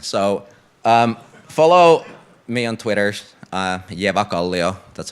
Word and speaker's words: Eväkallio: So follow me on Twitter, Eväkallio, that's how you pronounce it, just in case you were wondering.